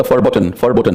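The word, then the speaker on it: verboten: इट्स a German word and right pronunciation is द फॉरबोटन। जैसे automobile का brand है Volkswagen, the spelling starts with we but that's the German, तो German में वी को for pronunciate करते हैं।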